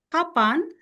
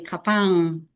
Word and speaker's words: kapan: Because if I teach, let's say, Japanese, when they said kapan, because there is the N at the end, they can say N at the end, but they will say kapang.